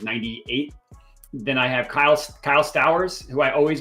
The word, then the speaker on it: Stowers: Then I have Kyle Stowers, who I always pronounce his last name correctly. Toast, is that right? Stowers? Okay, yeah, got that right.